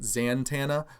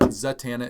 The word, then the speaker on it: Zatanna: of people pronounce it zantana well there's no n before the t just uh just pointing that out uh in a friendly way now not being stupid or anything like that but zatanna is the way that